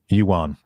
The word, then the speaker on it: Johan: So, but Euan, and that's how he pronounces his name. I want people to know. Ewan.